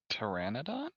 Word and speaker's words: Pteranodon: Pteranodon?